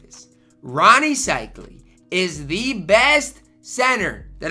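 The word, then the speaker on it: Seikaly: to talk about is Ronnie sley now or cyle my fault I've been pronouncing his name wrong and you guys have been on my you know what about it so I finally got it right cyle okay here we go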